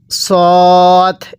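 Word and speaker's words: ص: আমার সাথে পড়বেন পড়ুন সদ এটাকে সদ পড়তেছি অনেকেই সদ আর সিন একই ভাবে পড়ে ফেলেন এরকম ভাবে পড়লে পড়াটা সহি শুদ্ধ হবে পড়ুন আরেকবার পড়ুন হ্যাঁ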